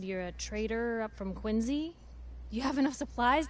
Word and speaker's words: Quincy: a traitor up from quincy do you have enough supplies to keep the general store scheduled to always pronounce quincy as if it has a z in it you hear that